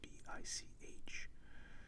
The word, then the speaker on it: Bic: In the 40s, the Bic pen was changed to Bic, so it went from B-I-C-H to B-I-C for fears that Americans would pronounce it bitch.